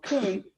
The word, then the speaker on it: Coon: it's a nice name my last name though koon uh it's spelled c-o-o-n and it's the bad spelling of